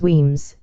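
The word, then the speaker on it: Wemyss: a long German pipe whimis pronounce Weems with its bad haunted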